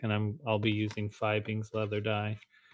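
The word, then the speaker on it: Fiebing's: And I'm I'll be using Fibbeings leather dye. I think I've been pronouncing it wrong this whole time. I think it's feebings, actually.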